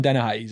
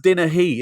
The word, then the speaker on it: Dennehy: It's pronounced Dennehy. Everyone says hey. It's an interesting thing. So I'm pleased you've done it. Dennehy. Dennehy. Yeah, it's not even a he, but everyone always defaults to hey.